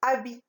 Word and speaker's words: habit: Donc, H au début, qui se trouve au début du mot, et T qui se trouve à la fin du mot. Donc, H et T, ce sont des lettres muettes. D'accord, mes chers élèves?